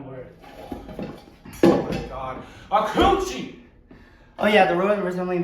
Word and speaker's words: acouchi: A coochie.